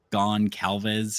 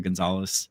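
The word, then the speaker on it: Gonçalves: Um, which weird it it looks like Gone Calves or Gon Calves. Um, but it's I'll pronounce closer to Gonzalez.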